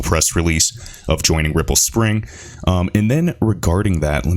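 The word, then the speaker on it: Xpring: the spring team and it is pronounced spring that you can say x spring it really doesn't matter guys but the cool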